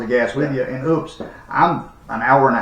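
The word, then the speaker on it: Oupes: model numbers we tested the Opie system is that how you say it o yeah oops oops Yeah oops o u p s Mega 2 Mega 2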